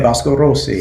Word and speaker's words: Vasco Rossi: Vasco Rossi. Vasco. And that's the correct way to say it, Vasco Rossi.